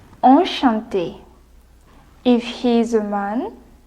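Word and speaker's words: enchanté: to meet you but in French we say on Shanti if he is a man or Shanti with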